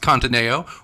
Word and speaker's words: Conteneo: His last company, I believe it's pronounced Conteneo, was an enterprise software company that helped global companies manage investment portfolios using participatory budgeting.